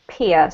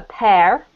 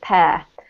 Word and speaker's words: pear: And then this word here is not peer, so just be careful. It's pronounced the same as, for example, a pair of shoes.